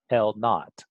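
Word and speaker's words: L₀: a known distance apart, L naught. So I pronounce this here is pronounced as L naught, and it's also known as a gauge.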